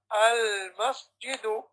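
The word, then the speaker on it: المسجدُ: So, as we said, when there's alif or lam, you pronounce one dhamma at the end of the word.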